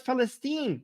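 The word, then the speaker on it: فلسطين: which is weird because the word Palestine you know you can't even pronounce it you call it festine because the name Palestine that the Roman Empire gave to that land has the sound p in it which we don't have in Arabic so it's so this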